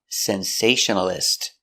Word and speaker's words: sensationalist: 5 syllables. Sensationalist. Stress is on the second syllable.